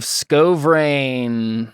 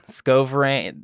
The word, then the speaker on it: Skovrane: this is tears of sko brain scovering it's pronounced like that exactly yeah okay sounds good